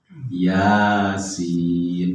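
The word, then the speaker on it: يس: Yasin. Ianya 2 harokat ya, karena tegak berdiri. Kalau sinnya memang harus panjang 6 harokat. Jadi Yasin. Yang sering keliru itu ianya yang panjang.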